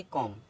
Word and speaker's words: comb: जैसे COMB, एम के बाद आया बी साइलेंट होता है, तो इसको क्या पढ़ेंगे? कॉम।